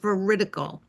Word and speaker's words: veridical: I've heard it pronounced a couple different ways, but is it vertical or veridical?